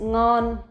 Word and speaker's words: ngon: You will see, if you notice, we will not pronounce like the ending sound like in English. For example, in English we have like time. But for Vietnamese, if the words that end with N or M like that, we will just close the sound.